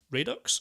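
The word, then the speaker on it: Redux: I did watch Apocalypse Now Radox, I think you say it should be pronounced. Thank you. Radox, right? Yeah, Radox, yes, named it's after a bubble bath.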